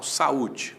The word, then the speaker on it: saúde: Então, saúde. Qual é a separação silábica de saúde? Sa-u-de. O A para um lado, o U para o outro.